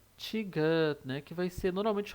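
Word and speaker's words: 디귿: Mas, na verdade, ela vai ter um som de T ou D. T ou D. Então, ela tem um som de T no início da palavra, né? Na primeira sílaba. E o som de D no meio ou final, na segunda sílaba, terceira sílaba e assim por diante.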